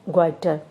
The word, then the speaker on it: goitre: यहाँ से ये स्पेलिंग है GOITRE, ग्वाइटर। सो थायराइड ग्लैंड को, अगर थायराइड ग्लैंड थायराइड ग्लैंड क्या प्रोड्यूस करता है, थायरोक्सिन हार्मोन।